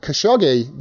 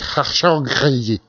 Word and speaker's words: Khashoggi: Shahid Rahman says, I heard Khashoggi that got murdered was the brother of Adnan Khashoggi, the arms dealer.